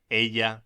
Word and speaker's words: ella: Pronúnciese ella. La elle se pronuncia como doble L en William.